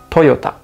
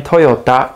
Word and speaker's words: Toyota: But in Japanese, we pronounce it Toyota. Toyota. The company name Toyota comes from the original founder's last name, Kiichiro Toyoda.